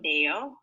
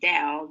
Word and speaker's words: Dale: Okay, try to pronounce Dale with an A sound. Dale. Dale. Dale. Good. Because if you say Dell, Dell's like Dell computer, Dell. Okay. But this is Dale.